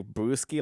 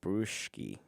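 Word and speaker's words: Bruschi: last name is brewski it's not like brewski like a like a beer i'm just not pronouncing it right it's like bruschki it's b b-r-u-s-c-h-i some like that like s-c-h-i bruce key all right you get the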